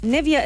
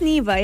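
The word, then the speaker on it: Neeva: the same way so nivea is spelled n-i-e-v-a this one is n-double e-v-a so so it's neva yeah it's the brand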